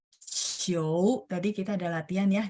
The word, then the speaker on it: 球: Ingat ya, QIU bacanya CHIOU. 球 ada 2. 球 tadi kita ada latihan ya di pinyin ya.